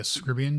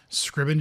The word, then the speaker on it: Scriban: Map via Scribian generator? Scribian. See, I keep saying it wrong. Scribian. Scriban generator.